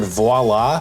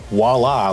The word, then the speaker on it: voila: Like it took me 22 years to learn that the word voila has a V. Like you pronounce the V in front of it. For years I was saying voila. Like voila. There's no W.